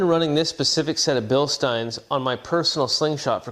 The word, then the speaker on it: Bilstein: and top level craftsmanship Bill Stein yes I said Bill Stein not Bill Steen it's a German company and they pronounce it Stein which is the same